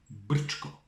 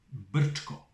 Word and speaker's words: Brčko: You need to know how to pronounce it, otherwise it wouldn't be a good game. Now, listen to me very carefully. BRČKO. Yeah? Got it? Once more. BRČKO.